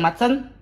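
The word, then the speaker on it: Maatsen: Bacanya gimana tuh Coach yang bener Coach? Betul, Zirkzee. Zirkzee benar. Ian Madsen biasa.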